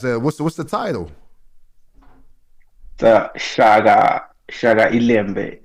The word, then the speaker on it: Shaka iLembe: The Shaga Ilembe. It's a Okay. SHAKA and then ILEMBE. NBE. I see it. Can you pronounce it again? Yeah. Shaka Alimbe? Yeah, Shaga Ilembe.